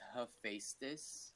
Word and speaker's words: Hephaestus: Yo, I legit don't know how to pronounce this name. Okay, it's Hephaestus. Hephaestus.